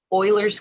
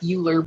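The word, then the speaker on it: Euler: Some people call it the natural number, but it's also called Oilers's constant. I know it looks like uler, but it's pronounced Oiler.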